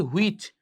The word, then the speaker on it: which: আপনি বলেন, "I'm from Kishoreganj, which is famous for" আমরা অনেকে এটার উচ্চারণটা করি which। উচ্চারণটা কি হবে? which। H এর সাউন্ড সাইলেন্ট।